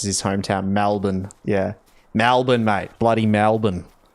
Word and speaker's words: Melbourne: I like how Bev pronounces his hometown, Melbourne.